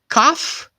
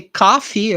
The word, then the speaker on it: cough: cough right cough and be careful not to say coffee okay many of my students when they're just starting to learn English they tend to say coffee but be careful because coffee it's Cafe okay Cafe it's coffee that's what you drink okay you drink coffee but here he has a cough okay cuff cough he